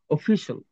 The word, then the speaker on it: official: তারা অফিসিয়াল তো সবসময় উচ্চারণ করছি, অফিসিয়াল, অফিসিয়াল, শল এই জায়গাটা উচ্চারণ হবে শল।